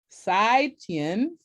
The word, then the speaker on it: 再见: Would you pronounce it for me, Peter? So I'm saying the right inflections. It's 再见. Sai Tien.